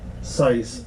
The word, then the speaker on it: CiES: company okay it's it's spelled c-i-e-s but it's pronounced seis like precise c-i-c c-i-s-e so actually you could